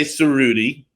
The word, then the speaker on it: Cerutti: Yeah, well, we say Cerutti. Rudy, okay. Cerutti is the American pronunciation.